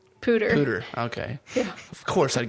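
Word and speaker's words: POODR: And I'm pretty sure that's how you say it, right, Potter? Pooter.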